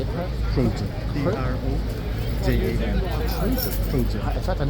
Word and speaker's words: Trojan: Trojan.